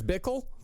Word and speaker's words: Bickle: Travis Bickle? Bickle? You bringing Bickle up? It's that name that rhymes with pickle.